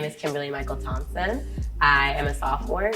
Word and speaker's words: Kimberlee-Mykel: My name is Kimberlee-Mykel, and it's spelled like super funky. I have 2 first names, so Kimberlee-Mykel is hyphenated. Kimberlee is my aunt, and Michael is my father.